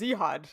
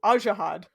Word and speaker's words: Ajihad: twice before this because i always pronounced it as zehad and that's not correct i liked it yeah